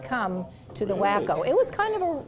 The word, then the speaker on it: Waco: So for family, it's always been the wacko and, um, not Waco, not Washington County.